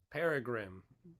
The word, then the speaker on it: Peregrine: And lo and behold, this girl is, if I can pronounce her name right, because Missy Peregrine? Peregrine? Peregrine.